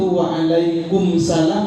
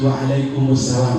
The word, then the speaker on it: waalaikumussalam: Nah, jawab salam yang benar itu waalaikumsalam apa? Waalaikumussalam. Waalaikumsalam. Bagaimana? Waalaikumussalam. Jadi bacanya harus waalaikumussalam, Bapak Ibu.